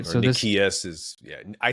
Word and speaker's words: Nicias: How do you pronounce this guy's name? Is this Nicias? Nicias, right? Or So Nicias is, yeah, I say Nicias.